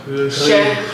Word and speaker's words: chéri: Like there's an R under the R. Chéri.